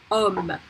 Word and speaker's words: homme: Homme. Remember that in French we don't pronounce the H. The H does, by itself has no pronunciation.